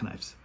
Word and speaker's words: knives: The K is silent. The K. I don't know what you're talking about. I like cutting my food with knives.